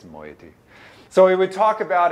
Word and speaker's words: moiety: often described as moieties with luck I am pronouncing that correctly my wife no doubt would tell me I'm not since she often does but I think it's moiety so we would talk